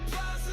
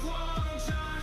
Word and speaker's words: Guangzhou: Don't call it plaza, say it right. It's Guangzhou.